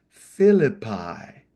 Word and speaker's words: Philippi: even though it's a bunch of I is pronounced Philippi the first city where Paul will preach and